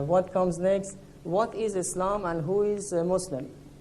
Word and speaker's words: Islam: to be more accurate it's better to pronounce it as it's supposed to pronounce with the sound of s and not z now what is islam islam literally means submission